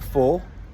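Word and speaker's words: Phaure: So my name is 4. Right? It's spelled P-H-A-U-R-E.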